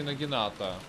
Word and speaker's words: нагината: Нагиналтой. Нагитаной? Или я всегда неправильно произносил это? Нет, Нагитана. А, и такой вид, чтоб нет. А, нет, все-таки Нагината. Я, видимо, неправильно произносил.